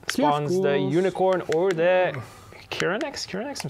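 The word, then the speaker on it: Chironex: Can you go down to Yennefer that spawns the unicorn or the Kiranex?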